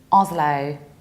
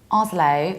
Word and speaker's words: Oslo: copenhagen and now norway the capital of Norway is Oslo Oslo although sometimes we might pronounce it with a set off slow but Norwegian people would say Bushra Americans would say as low or it's sometimes with s as low let's sum